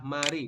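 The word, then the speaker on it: 말이: tapi bunyi awal Jadi anda membacanya bukan Mal tapi dibacanya adalah Mari Jadi anda membacanya seperti ini ma ri seperti ini ya Anda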